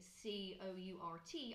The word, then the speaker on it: court: don't pronounce the are so Court as in c o u r t I would pronounce Court which would be the same as